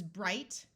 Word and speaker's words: bright: happier and happiest i g has a long I sound and the GH is silent so this is bright brighter brightest OU says